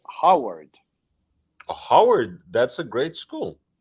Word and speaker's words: Howard: So he was pronouncing it Harvard, but it was Howard.